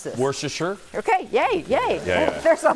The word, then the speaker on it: Worcestershire: How do you pronounce this? Worcestershire.